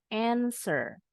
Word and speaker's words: answer: bunyinya F yang ini w-nya silent answer phone heer PH nahul